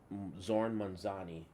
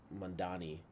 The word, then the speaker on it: Mamdani: So this is Zohran Mamdani. I believe that's how Mandani, his name is pronounced.